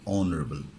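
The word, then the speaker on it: honorable: person তখন কি হবে অনারেবল পারবা কারণ কি বলতো এখানে এইচ এর উচ্চারণটা হবে না কি দিয়ে শুরু হবে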